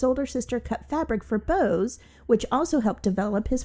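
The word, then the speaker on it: Beaux: a pet couture company bows and paws it's spelled b e a ux specializing in unique and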